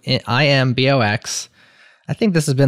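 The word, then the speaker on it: Imbox: not mispronouncing it listeners it's not an inbox it's an i box I think this has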